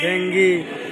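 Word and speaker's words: dengue: সঠিক করার আচ্ছা ধরেন ডেঙ্গু উচ্চারণটা কি হবে ডেঙ্গু ভুল তো তাই না হবে ইংরেজিতে বলেন ডেঙ্গি কি হবে আচ্ছা লেটুস কি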